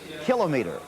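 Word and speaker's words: kilometre: the same subject and they both prefer the pronunciation kilometer.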